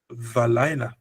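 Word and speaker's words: וּבַלַּיְלָה: From B, balayla, we go to valayla, a V sound.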